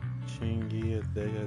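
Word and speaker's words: Qingyi: Affirmative the agent's master has worked with public security officer Chingi that's how you say her name.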